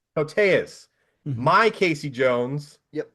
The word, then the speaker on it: Koteas: Um okay, Elias Elias Koteas? Kotias? How do you say his name? Koteas. Koteas.